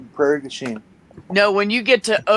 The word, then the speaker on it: Prairie du Chien: It's pronounced Prairie du Chien.